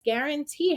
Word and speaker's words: guarantee: And you'll notice guarantee has a GU, 2-letter G. It's G, gua.